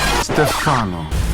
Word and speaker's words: Stefano: But not also his real name is Stefano. Son of a That pronunciation made me a bit triggered.